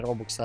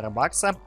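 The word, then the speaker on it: Robux: Учусь говорить правильно, не робокса, а робакса. Тенку.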